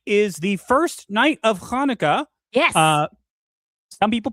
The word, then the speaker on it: Hanukkah: Also, tonight is the first night of Hanukkah. Yes. Some people pronounce it Hanukkah, but it's Hanukkah.